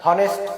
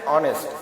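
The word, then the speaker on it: honest: জানি, কিন্তু আসলে এখানে এইচ এর উচ্চারণটা কিন্তু সাইলেন্ট আছে, অর্থাৎ এর উচ্চারণটা হনেস্ট এমন হচ্ছে না, এর উচ্চারণটা হচ্ছে অনেস্ট।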